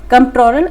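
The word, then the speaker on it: Comptroller: Piece इसमें silent है। ठीक है? कंट्रोलर and auditor general of India.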